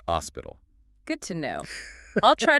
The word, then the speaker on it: hospital: But remember the H is silent in Spanish. So it's pronounced hospital.